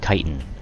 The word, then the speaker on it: chitin: so while reading this I realized I was saying it wrong its chitin knotch in local microcosm